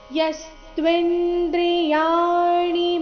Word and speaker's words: ಯಸ್ತ್ವಿಂದ್ರಿಯಾಣಿ: ಯಸ್ತ್ವಿಂದ್ರಿಯಾಣಿ ಮನಸಾ ನಿಯಂ ಯಾರಭೇರ್ಜುನ ಕರ್ಮೇಂದ್ರಿಯ ಕರ್ಮಯೋಗಂ ಅಸಕ್ತ ಸವಿಶಿಷ್ಯತೆ ಯಸ್ತ್ವಿಂದ್ರಿಯಾಣಿ ಈ ಶಬ್ದವನ್ನು ಸಾವಕಾಶ ಹೇಳಿ ನೋಡೋಣ ತ್ವಿಂದ್ರಿಯಾಣಿ ಇಲ್ಲಿ ಯಸ್ತ್ವಿನ್ ದ್ರಿಯಾಣಿ ಣಿ ರಸ್ವ ಇದೆ ಯಸ್ತ್ವಿಂದ್ರಿಯಾಣಿ ಮನಸಾ ನಿಯಮ್ಯ ಇಲ್ಲಿ ಯ